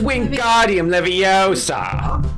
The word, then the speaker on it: Wingardium Leviosa: Let me tell you the correct way to say it. It's Wingardium Leviosa. Leiosa. Leviosa.